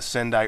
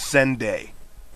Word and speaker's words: Sendai: i'm thinking hey stupid news lady it's not pronounced sunday uh for those of you didn't know sendai is a city in japan and that is